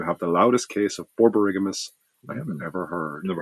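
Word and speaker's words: borborygmus: Bear, you have the loudest case of borberiggamus. I have never heard never heard of that. Borigmas. Borarigmas.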